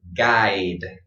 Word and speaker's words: guide: And this word guide, I. So I, kind of strange that this is pronounced I, right? Well, that's just English.